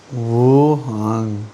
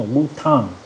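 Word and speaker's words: 无糖: It sounded like you said it longer that time. Wu Tang. Wuhan. No, Wu Tang. Like Tang, but Tang.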